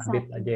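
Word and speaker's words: habitent: Nah, ini bacanya habit aja ya.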